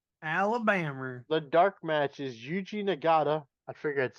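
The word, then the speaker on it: Yuji Nagata: and Birmingham Alabama Alabama the dark match is eugi nagada I figured I'd say that for you so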